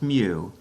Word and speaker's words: mu: the average symbol but technically we call that mu it's pronounced mu and it stands for the mean of a